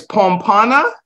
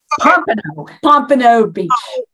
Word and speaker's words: Pompano Beach: of this I always get this wrong because pronunciation is like the worst thing that I have it's pompana Pompano Beach Pompano Beach it's like one of those words